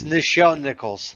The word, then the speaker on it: Nichelle Nichols: I'm even saying it's Nichelle Nichols.